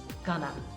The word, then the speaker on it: going to: me sounds like lemme going to sounds like gonna remember that when you